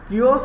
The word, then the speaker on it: Chios: Chios or Chios, pronunciation you can read, but some Chios on the western coast of Asia Minor.